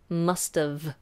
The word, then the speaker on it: must've: okay so must of we do pronounce that T and make sure that V is the bottom lip top teeth must of must've sounds like mustard it's slightly different okay so this is